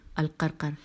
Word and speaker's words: القرقر: قاف الف عین قاء، الف لام قاف رے قاف رے القرقر، اور شجاع شین جیم